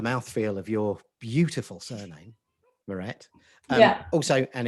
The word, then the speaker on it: Maret: Anyway, enough about the mouthfeel of your beautiful surname, Mirette. Yeah. Also, and in honor of Mirette, and to remind me how to pronounce her first name, I'm eating amaretto biscuits with my Bristol hipster coffee here.